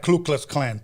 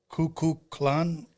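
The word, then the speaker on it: Kukulkan: not pronouncing this line it looks like Klu Klux Klan but it's cuckoo Clan it's a snake pyramid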